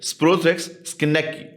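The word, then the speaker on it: schenckii: them so what causes sporo prosis it's sporothrix skaki right SPX ski that's how you pronounce it that's the causitive organism that's the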